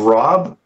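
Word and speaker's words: raab: spinach are our different types of rob now we spell it r a a b i've seen it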